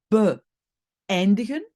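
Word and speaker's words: beëindigen: Ici, terminer, c'est be eindigen. C'est be, nouvelle syllabe, eindigen. Et alors peut-être aussi un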